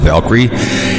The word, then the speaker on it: Valkyrie: Yeah, Valkyrie.